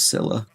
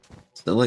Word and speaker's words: Scylla: I know some people say Scylla or Scylla. Scylla's what I've always heard, and I once had a actual Greek mythology professor say Scylla.